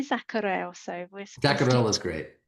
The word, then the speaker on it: Zacherl: Can you please say your surname because I'm not 100% sure how to pronounce it. Yeah. Uh Dr. Zacharel.